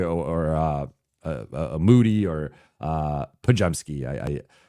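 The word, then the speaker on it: Podziemski: able to guard a Pajemski or a Moody or Pajemski. Everyone mispronounces his name, so I like saying it the correct way.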